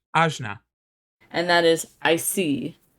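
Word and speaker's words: Ajna: y it is your third eye it is pronounced azna and that is I see I see my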